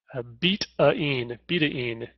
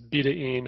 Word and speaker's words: betaine: And most people call it betaine, and recently I've read that it's appropriate or proper pronunciation is betaine. And that was primarily because it was derived from beet, and it's a chemical bond, whatever.